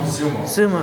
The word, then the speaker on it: Xumo: They've put out the UMO. Is that how you pronounce it? Is that again? XUMO? UMO? Zumo. Zumo? Yeah, which is broadband TV for them.